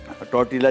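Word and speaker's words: tortilla: Recipe card अगर आप देखेंगे तो उसमें लिखा हुआ है टॉर्टिया, टॉर्टिला जिसको आमतौर पे प्रोनाउंस तो टॉटिया होता है लेकिन लिखा जाता है टॉटिला।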